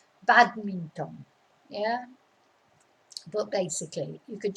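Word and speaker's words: bádminton: in spanish badminton but your your stress is on the bad because that's where the accent is badminton yeah but basically you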